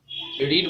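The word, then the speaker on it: read: আইএনজির জন্য বিইং হচ্ছে, রিড ভার্বটার past participle form হচ্ছে রেড। বানান একই থাকে কিন্তু উচ্চারণটা হয়ে যায় রিড, রেড, রেড।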